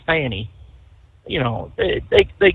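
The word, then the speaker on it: Fani: Stacy Abrams or Fanny, I don't want to call her Fonnie because it doesn't spell it that way. It's Fanny.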